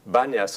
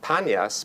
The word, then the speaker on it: Banias: christian believer is um banyas or caesarea philippi absolutely yes now banyas is called banyas because in the muslim it's not dichotomy enunciation the letter p is pronounced pronounced like b since the greeks put